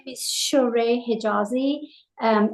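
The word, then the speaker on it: Shohreh: Hi, my name is Shereé Hijazi.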